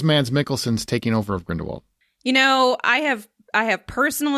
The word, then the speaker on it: Grindelwald: It's not Grindelwald, it's Grindelwald. That's how they say it. I don't know why they say it like that, but they say it like Grindelwald, like Volt, like we're French or something. Or German.